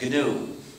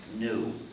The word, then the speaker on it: GNU: so please pronounce it gnu avoid the pronunciation the confusing pronunciation new and there's another erroneous